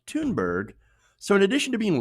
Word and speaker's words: Thunberg: a garbage person also her last name is pronounced tune bird so in addition to